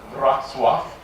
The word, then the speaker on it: Wrocław: Surprisingly, except to Poles, pronounced Wrocław.